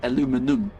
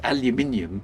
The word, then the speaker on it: aluminium: It doesn't actually have the extra syllable, which might explain why the pronunciation is different. Of course, in the UK, it's aluminium because we have an extra I in there.